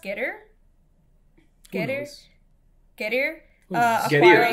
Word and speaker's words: Getir: Getir, like get here.